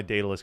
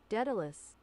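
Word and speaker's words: Daedalus: I don't know why Datalus can't Icarus.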